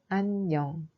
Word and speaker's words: 안녕: Dans la syllabe an, iung n'a pas de son. Mais dans le cas de 냥, iung a un son ung. Donc, la prononciation de ce mot est 안녕.